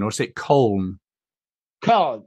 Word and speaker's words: Köln: Is that how you pronounce Cologne, or is it Köln? Köln. In Germany, you speak it Köln. Köln. It's pronounced in Germany Köln. Yeah, and so the foreign people say Cologne.